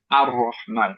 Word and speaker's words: الرحمن: সো এই লামটা এখন উজ্জ, pronounce হচ্ছে না, কিন্তু তারপরও সেটা মার্জ হয়ে গেছে যেহেতু র এর সাথে, এর জন্য হচ্ছে আর রহমান হবে, আ হয়ে যাবে, ই বা উ হবে না, রাইট?